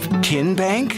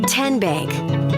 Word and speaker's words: TN Bank: How do you say the name TN Bank? Nope. Tin Bank. Uh-uh. So, what is it? Tenbank. 10 as in Tennessee.